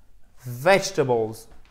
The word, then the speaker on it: vegetables: Et le E ici ne se prononce pas. Vous pouvez l'oublier. vegetables. Sinon, en fait, ça ferait trop haché. Vous ne pourriez pas faire votre accent tonique sur la première syllabe qui est la clé,